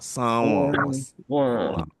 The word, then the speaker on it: San Juan: So the N is not pronounced, but it makes the A be pronounced in a nasalized way through your nose.